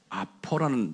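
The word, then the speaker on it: ἀπό: 그래서 제가 이제 원어를 많이 이렇게 서치를 하면서 거기다 좀 원어를 제가 발음을 불러줄 테니까 좀 적어보세요. 아포라는 단어가 있어요. 그게 영어로는 from이에요. 부터라는 뜻이 아포, APO.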